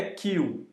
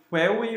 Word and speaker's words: Queue: Aqui a gente tem uma classe Q, e essa classe Q, só para vocês saberem, a pronúncia correta dessa palavra aqui é Q. Em aulas anteriores eu tenho falado query ou query, assim como em query e dequery,